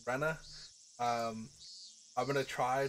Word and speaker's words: Rena: got some tips uh I know I'm pronouncing Raina wrong it's Rena um I'm going to